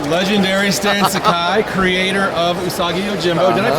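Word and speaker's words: Usagi Yojimbo: Okay, I am here with the legendary Stan Sakai, creator of Usagio Jimbo. Did I pronounce that close enough? Yes, it is. Usagio Jimbo.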